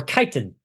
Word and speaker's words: chitin: First adaptation is Chitin, or Chitin, I guess that would actually be more accurately pronounced.